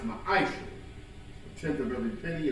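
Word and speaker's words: מעשר: Means 10th in the Hebrew and is pronounced ma'aisha.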